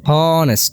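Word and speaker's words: honest: হচ্ছে তাই তার পূর্বে কি বসছে এ বসছে হনেস্ট হন এস্ট হন এ একটা এ এর মত উচ্চারণ হচ্ছে হনেস্ট হনেস্ট এস্ট অর্থাৎ এ বা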